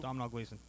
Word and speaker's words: Domhnall Gleeson: Domhnall Gleeson. That's correct. Donald Gleason. All right. Hard name to Pronounce pronounce.